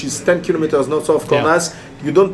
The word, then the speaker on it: Cornas: Up to Cornas, in Cornas, you pronounce the S in Cornas, and just 10 kilometers